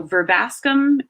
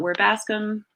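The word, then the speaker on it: Verbascum: pronounce so it's usually pronounced e B is pronounced very soft so ver bascomb not where Bascom AE is usually pronounced like meat meat so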